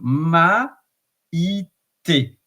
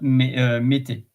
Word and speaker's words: Maite: So ma, ite, maite, and not mete.